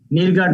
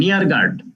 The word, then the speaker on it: Neergaard: নিরগার্ড না, নিয়ারগার্ড। পোল নিয়ারগার্ড। এর উচ্চারণগুলি শুনবা।